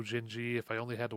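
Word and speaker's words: Dindi: by him is called jinji which is d-i-n-d-i but you pronounce that ginji and it's it sounds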